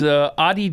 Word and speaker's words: Adidas: It was Adidas.